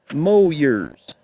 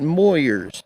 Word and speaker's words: Moyers: you ever go there remember the locals call it moers okay non-locals call it Moyers you know how it